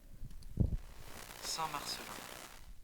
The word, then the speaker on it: Saint-Marcellin: Um Let me Let me let Okay, I'm going to let Wikipedia play pronounce it for us. Hold on. Turn my volume all the way up. Saint-Marcellin.